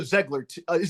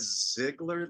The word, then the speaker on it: Zeigler: Well, we always said Ziegler, like a, but it's wrong. Okay. I know it should either be Ziegler or Zeigler, but we just say Ziegler.